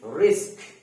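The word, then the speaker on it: risk: এই শব্দটা আমরা উচ্চারণ করি, এই শব্দটা উচ্চারণ করি, রিক্স বলি, এটাকে আমরা এটা বলি, কিন্তু এটা রং। এটা কখনো বলা যাবে না। এটা আমাদের উচ্চারণ করতে হবে কি, রিস্ক। কি বলবো আমরা? রিস্ক।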